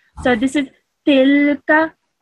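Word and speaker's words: تلك: You should only pronounce this for 1 second because this has a simple fatha on top of it. So this is tilka. Tilka.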